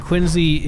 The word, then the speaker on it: Quincy: And Quincy is real scary. It is pronounced Quincy, by the way, like it has a Z, even though it doesn't have a Z.